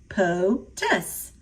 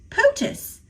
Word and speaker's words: POTUS: You say it like this, POTUS, POTUS.